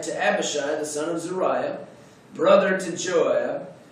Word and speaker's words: Zeruiah: Zeruiah is, I think, the way that we would pronounce it. David had a sister named Zeruiah.